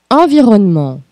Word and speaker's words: environnement: E comme environnement. Environnement. Vamos com a nossa primeira dica de pronúncia. No francês, a última consoante de uma palavra não se pronuncia.